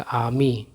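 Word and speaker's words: army: क्या है वल है तो आर का उच्चारण नहीं होगा सीधा पढ़ा जाएगा आमी ठीक है तो ये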